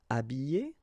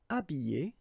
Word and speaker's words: habiller: Habiller, habiller, déshabiller, déshabiller. Okay, so you can see that here, this H here, this letter is not pronounced, so habiller and then déshabiller.